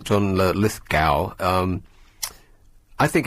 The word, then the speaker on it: Lithgow: Yeah, John Lithgow. I think that's how you're supposed to pronounce his name, although it sounds odd saying it. John Lithgow.